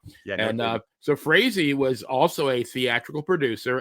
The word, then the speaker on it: Frazee: The Boston Red Sox owner, Harry, I guess it's Frazee, I believe it's pronounced. Frazee.